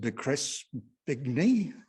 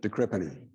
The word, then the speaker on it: de Crespigny: And Richard de Crespigny will be talking about his life in the RAAF, plus flying the A380 when the engine exploded, that fairly major incident. How do you pronounce it? De Crespigny.